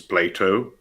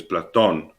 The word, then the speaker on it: Platon: But then there have been uh, names in English butchered by removing the n. One of those is Plato. His name is Platon.